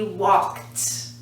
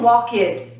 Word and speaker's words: walked: there's no extra syllable the word walk it's one syllable walk right walk that's the regular base form like in the dictionary walk but past is also one once in a little walked walked there's no second syllable here we're not saying wall kid walked got it let's